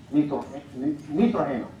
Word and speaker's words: nitrógeno: Esto es nitrógeno. Accents on the first syllable.